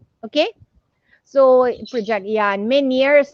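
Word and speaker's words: Ménière's: so project yeah in many years how to pronounce i know many years disease okay or many years it's a french term actually okay so let's uh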